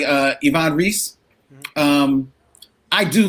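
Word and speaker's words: Ivan Reis: say i like uh yvonne reese um i do like his superman reese is that how that's pronounced i thought so no i thought was ivan rice oh ivan rice oh okay i mean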